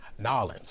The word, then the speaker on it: N'awlins: Okay, we got to first talk about pronunciation of New Orleans. Yes. Give me yours. Nolans.